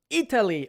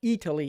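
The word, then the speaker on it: Eataly: We have a big store in New York called Italy. It's just spelled like eat, la manger.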